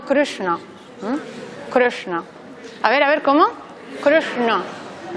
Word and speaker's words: Krishna: Y la A es breve, así que no es Krishna, sino Krishna.